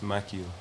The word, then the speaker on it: Maccio: we got my OG Mac how do we pronounce your stage is it maxio it's maio maio I'm that sounds like a designer pronounce